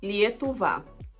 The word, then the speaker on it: Lietuva: embora conhecer a Lituânia Lituânia lituano se pronuncia lietuva O Alisson é uma